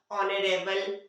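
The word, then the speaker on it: honorable: उसी तरह से ऑनेस्टी, ऑनेस्ट, ऑनरेबल, ऑनर, ये जो वर्ड है पर्टिकुलर सब, इन्हीं के पहले क्या होता है, मतलब ओ के पहले एच आता है तो एच साइलेंट होता है।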